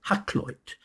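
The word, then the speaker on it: Hakluyt: now I can pronounce it's called hackit hackit was an Elizabethan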